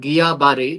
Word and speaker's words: Guillain-Barré: important social activity uh Gillan syndrome or if it is correctly to be pronounced in the French terms it is called gabare rather than Gillen so gabare are both